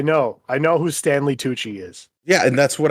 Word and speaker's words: Tucci: that movie has uh pretty sure his name Stanley hoochie is that how you pronounce that Gucci Stanley that's what I said you just know you did it I said Gucci I know Stanley Tucci yeah I did not